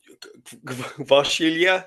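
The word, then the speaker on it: Kvaratskhelia: Obviously um Vashilia as well.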